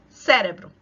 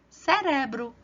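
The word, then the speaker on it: cerebro: ao português Como assim eu vejo essa palavra cérebro a sílaba tônica tá aqui na primeira sílaba mas espanhol não vai estar na primeira fila vai estar na segunda então eu vou ler assim em português Ó cérebro mas espanhol você vale cérebro Olha a diferença da engraçado cérebro em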